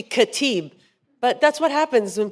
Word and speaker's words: Khatib: You know, the way it's spelled looks like Khatib. It's supposed to be Khatib.